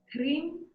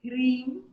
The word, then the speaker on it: Hrim: Om, Hrim, Hamsa, Soham, Swaha. I know I got the Hrim very short, but it's Hrim, Yeah.